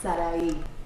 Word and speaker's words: Sarai: Sarai. It's what? Sarai. The same syllables as Sarah Lee.